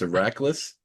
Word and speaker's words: Eraklis: your name correctly it's IRAs Ira okay yeah so the e is a long e and I is also